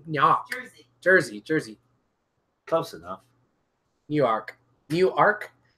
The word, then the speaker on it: Newark: Jersey Jersey close enough new Ark new arc how do you pronounce it cuz it's not New York it's new Ark oh no work Newark New Jersey yeah I